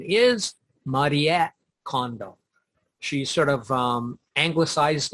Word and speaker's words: Marie Kondo: them and by condo i mean the correct pronunciation is mariette condo she sort of um anglicized it for um